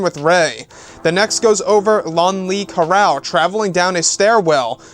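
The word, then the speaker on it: Lonli: know a lot of people are going to make the mistake of thinking that his first name is lonely but it's actually spelled l-o-n-l-i and the last name is spelled k-e-r-a-l-e salon lee carrell so also known as the dark prince or just prince lon lee now this actual character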